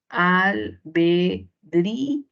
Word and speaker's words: albedrío: Albedrío, usted ya sabe que aquí la mayor fuerza de voz está solo en la boca cerrada, lo que involucra un hiato acentual. Y ante un hiato acentual, ¿qué cosa hacíamos? La tilde para la cerrada y separación de sílaba con la boca abierta.